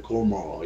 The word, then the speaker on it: Gomer: 예, 고멜, 우리는 고멜이라고 하는데 Gomer 이렇게 발음이 되어 있어요.